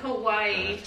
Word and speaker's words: Kauai: Is it Kauai? Is that how you say it? Yeah. Kauai.